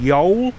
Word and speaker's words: Ewell: samuel peeps came to Yule he pronounced it actually in back then y'all why OWA double-l and it's in his diaries I think between 16